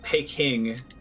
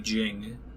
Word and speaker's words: Beijing: anything so so you ever heard like pay king it's actually supposed to be Beijing it's a little bit closer phonetically to what it actually supposed to sound like pay king is the whole weight Geils romanization so I can technically